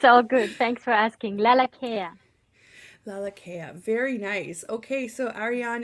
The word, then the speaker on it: Lalakea: live radio it's all good thanks for asking laa laa very nice okay so Aran is here with